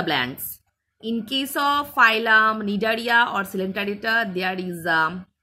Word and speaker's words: Cnidaria: It starts with C, but pronunciation will be Cnidaria or Coelenterata.